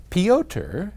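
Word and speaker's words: Piotr: peoter in poland and forgive me if i have butchered your name i assume it's some version of peter it's p-i-o-t-r-pyoter anyway he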